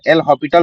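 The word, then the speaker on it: L'Hôpital: इसको कहते हैं एल हॉस्पिटल रूल। ध्यान देंगे। इसके प्रोनाउंसिएशन में ना ज्यादातर एल हॉस्पिटल ही बोल दिया जाता है। लेकिन एस जो है साइलेंट रहता है। एल हॉस्पिटल रूल ऐसा पढ़ा जाता है।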